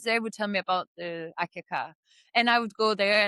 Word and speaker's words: Akyaka: Well, I hope your next destination will be my hometown, Akyaka in Turkey.